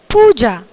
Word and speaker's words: पूजा: तो पूजा का उच्चारण कैसे होगा? पहले शब्द की तरह, पूजा। पूजा में कौन सी मात्रा लगेगी? ऊ की, बड़े ऊ की मात्रा लगेगी। और इसके बाजू में जो